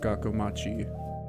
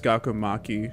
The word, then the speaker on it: Gakomachi: In my head, I always pronounce it as Gakomaki, because the CHI, I always just internally interpret that as like a key sound. Like it's Gakomaki, even though it's chi.